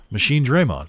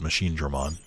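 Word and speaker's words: Machinedramon: Machine Draymon is how it's pronounced in Japanese. So, like, they're technically pronouncing it correctly, but not really, because it's already been established as Machine Dramon in English. But it's worth noting that that is the Japanese pronunciation.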